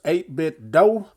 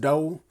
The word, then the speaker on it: 8BitDo: so here's the packages 8 bit dough i always want to say do but i think it's pronounced dough pro 2 bluetooth gaming